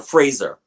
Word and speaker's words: Fraser: Or Fraser. That's actually how it's pronounced.